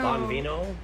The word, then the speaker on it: Buon Vino: Bonvino, Yeah, there we go. That's a better pronunciation.